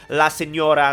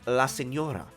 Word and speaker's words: La Signora: Now, I know you guys know there are words out there with a silent G, just like La Signora.